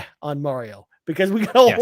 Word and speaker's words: Mario: I only go with Mario being the correct pronunciation, because that's how Nintendo pronounces it when they That's talk about true.